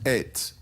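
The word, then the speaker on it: עת: outline for you, Jonathan, but the word it's pronounced et, but not aleph tav.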